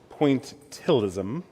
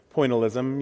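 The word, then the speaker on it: pointillism: Phil Hansen is an artist who wanted nothing more than to perfect pointilism. I always want to throw an extra syllable into that word poalism.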